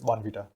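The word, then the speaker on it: Bournvita: and apparently it's pronounced Bon Vita B what is it like there's an r in the word it's like Bon Vita but my parents always said van Vita so maybe just difference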